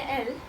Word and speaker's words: elles: And when we say L, again ELLES, but we do not pronounce the S, which means they, but feminine, we add an ENT again.